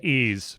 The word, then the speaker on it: Ys: right pronunciation is but the y w or sorry the ys series yes what do you think it's ease by the way what oh